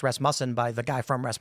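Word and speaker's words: Rasmussen: Ras muffin.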